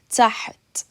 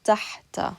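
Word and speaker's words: تحت: Now, you could pronounce it taht like this. Taht. You're literally gliding over the ha. You're stopping the sound, and then you're pronouncing it with the ta at the end.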